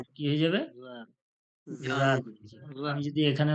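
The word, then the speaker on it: ذال: লাগিয়ে এবার বলুন আপনি আপনি জিবের আগাটা যখন উপরের দাঁতের আগায় লাগিয়ে দেবেন আপনি হাজার চেষ্টা করলেও জাল জাল হবে না জালি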